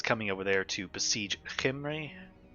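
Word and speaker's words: Khemri: over there to besiege kimray and that is the proper way to pronounce it is henry yeah yeah yeah so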